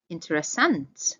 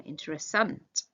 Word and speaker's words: interessant: Interessant. Remember to stress the end of that one. Interessant.